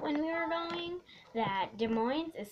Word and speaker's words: Des Moines: after that um uh we started driving to Des Moines and I figured it out when we were going that Des Moines is spelled Des Moines and it's really weird it's spelled d-e-s-m-o space